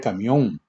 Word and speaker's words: camión: Ejemplo, tarjeta camión. Sílaba tónica, mión. Palabra aguda.